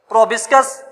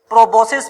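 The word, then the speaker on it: proboscis: एक है हमारे पास प्रोबिस्कस, प्रोबोसिस पढ़ते हैं, कोई प्रोबिस्कस पढ़ते हैं, अपने लफ्ज हैं, किसी तरह भी आप प्रोनाउंस कर सकते हैं, प्रोबोसिस। दूसरा इनका जो रीजन है वो कॉलर।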